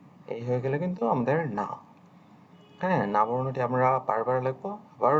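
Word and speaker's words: に: কাছাকাছি তবে এই যে নিবর্ণটির বাংলা উচ্চারণ অনেকটা নি এর মত হবে এটি উচ্চারণ আমরা নি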